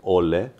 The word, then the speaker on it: Ole: Dels ska det vara Ole.